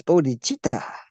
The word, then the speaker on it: bodh: Bod first of all we must spell it uh according to the way it's spelled here uh b o d as in body but without the Y and then hi bod bod bod bod and that's a